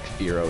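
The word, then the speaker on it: Fearow: Like FO is spelled F E A R O W and FO is spelled F I R O, but they sound exactly the same.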